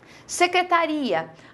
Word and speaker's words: secretaria: Secretaria. Aqui eu não pronuncio assim. Quando você fala secretaria, veja que tanto o I quanto o A tem, sim, um som forte.